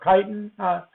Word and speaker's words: chitin: glue, you can get chitin or chitin. It can be pronounced either way. Chitin is actually the literal way to pronounce it.